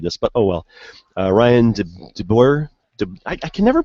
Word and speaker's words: DeBoer: Ryan DeBoer. I can never pronounce that. D-E-B-O-E-R.